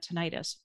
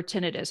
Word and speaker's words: tinnitus: getting really really bad tinnitus or tinnitus however you want to pronounce it and it was getting